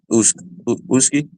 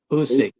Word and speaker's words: Usyk: pronounce it right. Uski. Usyk, Yeah, Usyk.